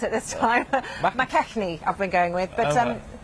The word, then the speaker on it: McKechnie: McKechnie, I've been going with, but they've worked together quite a lot. McKechnie, yes, Ranald McKechnie.